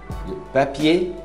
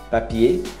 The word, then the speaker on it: papier: Papel alumínio, papier, papier, papier, não pronuncia o R.